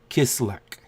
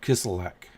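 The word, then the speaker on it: Kislyak: Russian ambassador Serge a kiss lick kiss elec Oh got to put the L in there kiss alack I've been hearing it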